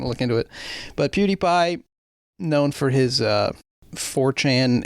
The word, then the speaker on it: PewDiePie: and uh also YouTuber PewDiePie is that how you say it it's like CutiePie right I believe so okay he posted a